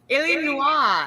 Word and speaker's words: Illinois: maybe once a year can you at least say helen wall helen noir hotel noise because that's how everybody mispronounces it i know and noise illinois yeah so i made it to illinois illinois good grief no one watched rainbows